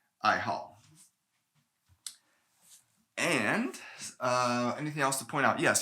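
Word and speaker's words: 爱好: into love and so it's pronounced fourth tone i hall and uh anything else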